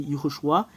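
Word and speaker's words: יְהוֹשֻׁעַ: Ho, parce qu'il y a un point juste ici. Ho. SH. Ces 3 points veut dire ou, Iho, SHU, Shu, Iho, Shu. En fait, il y a une séparation. Iho, Shu. Il y a une dernière séparation et c'est A qui est à la fin. Iho, Shu, A. Voilà le fait de prononcer ce terme.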